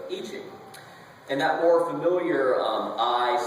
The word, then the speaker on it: I Ching: it more likely that the uninitiated will pronounce it I Ching instead of I Ching.